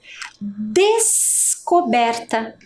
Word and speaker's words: descoberta: Percebam, ó, que eu consigo, ao fazer a pronúncia, identificar o S e perceber também a presença do C para fazer o co, né? Descoberta. A escrita tem SC, mas é um encontro consonantal, certo?